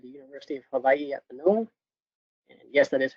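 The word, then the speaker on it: Mānoa: where I attended the University of Hawaii at Manoa and yes that is how you pronounce it and so while I was there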